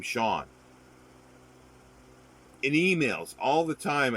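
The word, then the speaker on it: Siân: to um peter o'toole her first name is spelled s i a n the pronunciation of that is sean it's the feminine for for sean and that's mispronounced all the time like i never knew i never heard anybody so you think it'd be cyan and the weird thing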